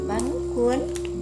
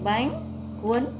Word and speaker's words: bánh cuốn: Bánh cuốn, voilà, il faut prononcer bánh cuốn.